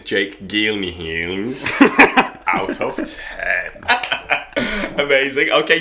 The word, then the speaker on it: Gyllenhaal: Gyllenhaal. No, it's not G. It's Gyllenhaal.